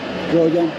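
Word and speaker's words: criolla: Not Creole, but Croya.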